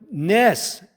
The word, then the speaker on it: gnats: After the plague of gnats, 지자 발음이 안 나죠.